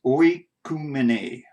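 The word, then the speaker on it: οἰκουμένη: Here it is, number 3625, and that's oikumene.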